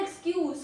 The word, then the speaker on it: excuse: So in the example is he gave a poor excuse for being late. He gave a poor excuse for being late. Then we have pronunciation two which is excuse. Excuse ends in Zed.